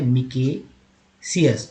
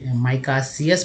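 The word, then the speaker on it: micaceous: Word meaning में माइका, लेकिन जब वर्ड मीनिंग मारेंगे आप तो MICA को माइका बोलते तो माइका सियस बोलते। ये इंडियन वे में ऐसे एक अलग वर्ड मीनिंग है मिकेसियस। दोनों वर्ड आप दोनों उच्चारण कर सकते हैं, आपकी जो इच्छा हो वो करिए, लेकिन माइका सियस पढ़िए ज़्यादा है, क्योंकि अभ्रक का हो जाएगा इस तरह से।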